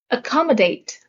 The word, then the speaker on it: accommodate: Accommodate. The stress is on the second syllable.